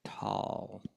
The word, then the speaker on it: Tolle: Tolle, I think, is how you No, pronounce it. it's tall, actually.